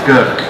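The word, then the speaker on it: Grk: uh basically it's pronounced gerk it's one of the few languages to have three consonants together making up a name so gert is from kurchula island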